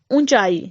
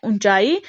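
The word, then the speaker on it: ऊँचाई: दूसरा है ऊंचाई, जब हम उच्चारण कर रहे हैं ऊंचाई तो हम मुंह और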